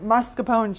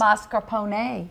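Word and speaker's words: mascarpone: you're making something with I always said mapone cheese but you say it's mascaron okay see oh you pronounce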